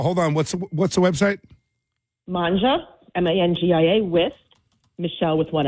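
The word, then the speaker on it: Mangia: Manja, M-A-N-G-I-A, with Michelle with one L.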